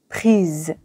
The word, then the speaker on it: prises: photo est féminin pluriel il convient d'ajouter e s au participe passé prix et de le prononcer prise la phrase correcte est